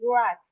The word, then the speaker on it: guards: Yes, we as if we ignore the U.